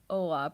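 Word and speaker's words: Olá: In Spanish, it's Ola. In Portuguese, it's Ola. Pronounced the same but written different.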